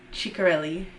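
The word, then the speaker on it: Ciccarelli: looked that up too looked up the pronunciation and now I think it's wrong chicarelli I'm pretty sure that's what the YouTube said anyways this is about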